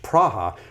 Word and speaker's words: Praha: The word Prague itself is the English version of Praha. That's how they say it in the Czech language, Praha, which means ford.